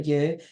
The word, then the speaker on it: EWE: so you would pronounce that you, but Mm-hmm. also it could be like Eve as well.